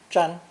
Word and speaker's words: 占: interpretation of the cracks this new character is pronounced first tone chan together we have the